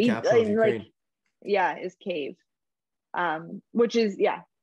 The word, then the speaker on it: Kyiv: Kiev is the Russian pronunciation. The correct pronunciation is Kyiv. Okay. That's like the capital city. The capital of Ukraine. Is Kyiv.